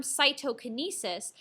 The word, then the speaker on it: cytokinesis: look at this term cytokinesis saito sounds like the word cytoplasm so cytokinesis is basically